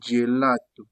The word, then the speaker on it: gelato: Même chose avec le G. Lorsqu'il est devant EI, on le prononce je. Par exemple, gelato, comme on a vu plus haut.